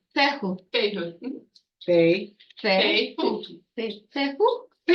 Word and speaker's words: Fehu: It's a hard F noise, like fee, fi, fo, fo. And it's, how do you pronounce it? Feo. Fehu, Fehu.